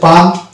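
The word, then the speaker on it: palm: এই শব্দটা হচ্ছে পাম এল সাইলেন্ট থাকছে।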